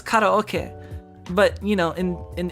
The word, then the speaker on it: karaoke: do some bad what well it's pronounced karaoke right because that's the actual because it's it's spelled right like k-a-r-a-o-k-e right but like the that has a specific